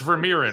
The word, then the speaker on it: Vermeeren: So, I think the song got your last name wrong and I didn't ask you in Veriran, right? Correct. 100%. Like the painter.